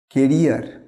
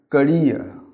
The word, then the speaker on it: career: কেরিয়ার। আমরা এটা অনেক কেরিয়ার বলি না, কেরিয়ার তো সাইকেলের থাকে, কেরিয়ার তো এটা নয়। এর সঠিক উচ্চারণ হচ্ছে ক্যারিয়ার এবং ক্যারিয়ার না, রটা সাইলেন্ট হবে, ক্যারিয়ার।